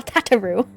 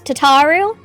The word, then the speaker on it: Tataru: tataru or tataro no okay it is tataru because everything after AR is tataru Tatar tataru is just how it's pronounced in a it's tataru okay it's taru it's not tataro it would never be tataro though we seek a peaceful